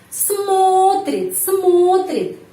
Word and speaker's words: смотрит: Zoya Stepanovna смотрит. Penekanannya di sini pada huruf O. Huruf O di sini dapat penekanan. Karena itu bacanya O tetap. Смотрит.